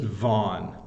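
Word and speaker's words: Vaughan: g h n and it's it's just vanon vanon it's one syllable uh that's all you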